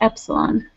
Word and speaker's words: epsilon: we denote it by the Greek letter e pronounced epsilon that doesn't have anything to do with residuals